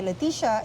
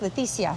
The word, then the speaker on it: Leticia: I used to go by Leticia in Canada, but since I'm in Mexico now, my name in Spanish is pronounced Leticia.